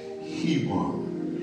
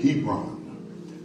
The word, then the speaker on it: Hebron: Jerusalem as well as hebon Hebron that's spell EB r o n sometime I have problems